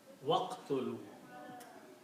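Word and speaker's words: وَاقْتُلُوا: And when you read with the waw, then you don't read alif, you read waqtulu. This alif becomes hamzatul wasl. You do not pronounce. So this pronunciation is waqtulu, and kill.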